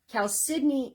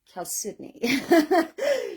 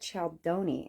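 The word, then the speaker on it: chalcedony: we we nicknamed Kel uh chalon Hill because Cal cidney is spelled chalon but it's pronounced Cal cidney so when we were first um doing a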